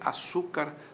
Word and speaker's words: açúcar: a palavra açúcar açúcar açúcar é paroxítona mulher é oxítona certo mulher termina em R açúcar termina em R eu